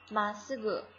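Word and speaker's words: まっすぐ: 好，径直笔直，まっすぐ，中间这个词是不发音的，顿一下，まっすぐ。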